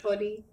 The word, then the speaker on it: Kohli: Maverick Kohli. Kohli as in Virat Kohli. I'm pretty sure Kohli as in Virat Kohli. I mean, he must have been a fanboy of Kohli.